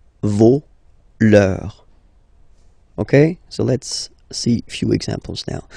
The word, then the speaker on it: vos: for this word, no, you don't pronounce the final S, vos, you don't pronounce it, leur. Okay, so if we say that one more time, it's me, te, se, and then nos, vos, leur.